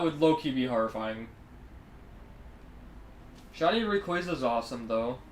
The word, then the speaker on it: Rayquaza: I don't think I've even run into Rayquaza yet. I think it's actually pronounced Rayquaza, but who cares over here?